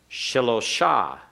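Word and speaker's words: שלושה: Shilosha.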